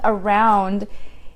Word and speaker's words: around: Around, I think that the problem with around is the OU sound. So it's ound, around, round. So it's ow, around, around.